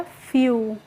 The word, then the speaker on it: few: तो जब EW एक साथ आएंगे बच्चों और लास्ट में आएंगे किसी भी शब्द के, तो इसको हमें पढ़ना होता है यू करके। क्या पढ़ेंगे, यू। जैसे FEW है, तो FEW को हम कैसे पढ़ेंगे, F को हम पढ़ेंगे फ और EW को यू, तो ये हो गया फ्यू।